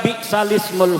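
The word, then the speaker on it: بئس الاسم: Dibacanya harusnya kalau lagi baca Quran sholat biksalismu, tulisannya biksal ismu, tetapi karena di situ ada hamzahnya hamzah wasal ismu, maka hamzahnya harkatnya dipindah kepada harkat yang sebelumnya yaitu lam.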